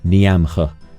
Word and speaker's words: Niamh: It's like how Niamh, the name Niamh, is in Irish is spelled N-I-A-M-H, Niamh. And yet it's pronounced Niamh. It's very tricky. Favorite moments were meeting my Oshi in-game and receiving a bond.